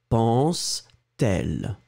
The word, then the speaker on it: pense-t-elle: this a funny thing, to make it beautiful and easier to pronounce, we will have to put this T between the verb pense and elle, because you've got two vowels. À quoi pense-t-elle?